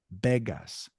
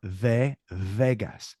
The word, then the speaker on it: Vegas: like a b so technically it would be be begas not ve vas now if you were